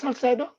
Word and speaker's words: Salcedo: Is it Salcedo?